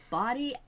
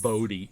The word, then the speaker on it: Bodie: In this video we are going to tell you about Bo Body Island. I was going to say Bodie. It's actually pronounced body.